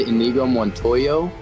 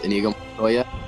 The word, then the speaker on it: Inigo Montoya: He said Inigo Mononttoyo. He did not properly pronounce Inigo Montoya as the ability.